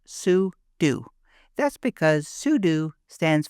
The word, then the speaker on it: sudo: Now it's Speaker: tempting to call it sudo, but it's actually pronounced soo do.